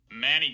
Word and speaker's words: Manny: Manny came with Anna. You can hear me put that H star on the first syllable of Manny. Remember, the first syllable of Manny is the one that's stressed.